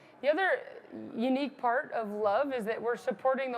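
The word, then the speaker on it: LOVB: we we started uh League one volleyball we pronounce it love kind of the acronym you get used to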